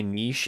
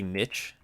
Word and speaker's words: niche: It's kind of like how some people say niche and other people say niche.